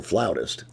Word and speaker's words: flautist: And so, Tanya is a wonderful flautist.